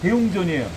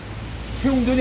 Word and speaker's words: 대웅전: 그러니까 중심은 항상 대웅전이에요. 태웅전이 아닙니다. 그건 큰대자인데 통할지 못해 대웅전이에요.